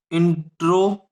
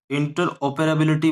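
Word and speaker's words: interoperability: इंट्रोपेराबिलिटी नाम है इसका। इंटर ओपेराबिलिटी बोल सकते हो या इंट्रोपेराबिलिटी बोल सकते हो, कोई दिक्कत नहीं है, प्रोनाउंस अपने अकॉर्डिंग करो। इंटर ओपेराबिलिटी बोलते हैं वैसे इसको।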